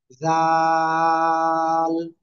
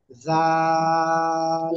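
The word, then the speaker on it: ذال: দুই দাঁতের আগার সাথে লাগিয়ে তিন আলিফটা নিয়ে উচ্চারণ করতে হবে জাল জাল সবাই জোরে জোরে বলেন জাল জাল জাল দা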